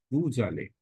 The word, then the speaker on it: vous allez: Again, there is linking. So, S will be pronounced like Z, vous allez.